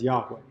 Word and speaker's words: Yahweh: whenever they came across the Tetragrammaton which is the four letters that stood for the name of God which we tend to pronounce or vocalize Yahweh okay the all right